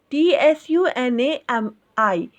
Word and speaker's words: tsunami: writing of tsunami but t s u n a m i is a correct way of writing and at the time of pronouncing we are not using t here we are pronouncing tsunami